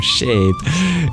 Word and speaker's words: Shade: Thank You Shad or shade you can tell me if I can pronounce your name in a way you prefer for your heart man pronounced like a tree shadow shadow Shadow Shad